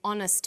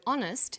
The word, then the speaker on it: honest: So we say a happy man, but an honest man. The H is not pronounced, so honest sounds like it starts with a vowel.